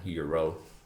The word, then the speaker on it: euro: yeah, you but- just have to pronounce it as it is written, euro.